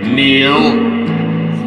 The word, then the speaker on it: kneel: need, another silent K, kneel, another silent K, knickers, silent K, silent